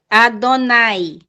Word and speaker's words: Adonai: O nome de Deus, quando aparece na Bíblia hebraica, é pronunciado de duas maneiras. É pronunciado, como quem pode ler aqui, a primeira palavra da esquerda, da direita, melhor dizendo, Adonai.